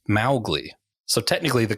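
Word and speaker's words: Mowgli: at the film specifically because they kept saying mowgly and it should be pronounced Malle so technically the correct pronunciation is not the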